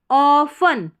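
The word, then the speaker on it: often: Approach होती है वी हम ऑफन ऑफ टी साइलेंट है। तो ऑफन हो गया।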